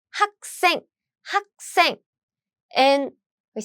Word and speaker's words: 학생: 짠, let's look at the first syllable, and it has this 기역 as 받침, right? 받침. So what happened is this sound get doubled.